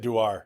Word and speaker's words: Dewar: You said Dewar.